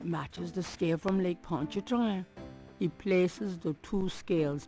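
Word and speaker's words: Pontchartrain: It matches the scale from Lake Ponchet train. He places the two scales together. Poncher train, not ponchart train. like I've been saying it wrong.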